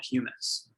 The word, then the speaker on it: humus: into a valuable soil amendment which is called humus which is spelt like hummus but pronounced humans it's a